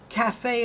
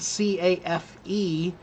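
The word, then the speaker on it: café: So that means the pronunciation is not cafe, which is the English typical rules, but cafe.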